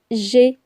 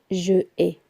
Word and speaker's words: j'ai: Donc ça donne j'ai. Je ne vais pas dire je ai.